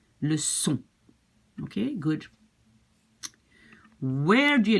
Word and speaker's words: leçon: To avoid to pronounce it like k, le con, you have to put this little CD, it's called, this little thing underneath. Just to say, watch out, it's pronounced like an S. Le son.